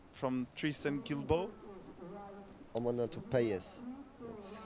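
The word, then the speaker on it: Guilbaud: really enjoying that moment from U from Tristan kilbo toz that's how you say it um yeah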